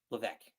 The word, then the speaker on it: Levesque: way with our eloquent, not so CCO, Paul Levesque. Did I say that right? Yeah. I didn't say it right last time, but I said it right this time. Yeah. Paul Triple H Levesque taking us home.